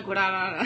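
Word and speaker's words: guaraná: Guarana. That's a juice in. That's like a, like a Red Bull version Guarana. Of Brazil. Guarana. You want to say it like that. Hello. I want a guarana.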